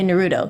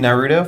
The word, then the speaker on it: Naruto: you know Naruto like I say Naruto because that's the way it is but I get that people say Nudo you know like that I now that's ridiculous.